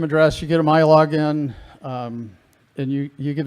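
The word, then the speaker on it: MILogin: system which is called my login everything in michigan starts with mi because michigan and it's pronounced my so you may think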